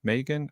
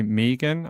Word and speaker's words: Megan: Megan. I always say the American version of it incorrectly because everyone here is called Megan, with the different pronunciation.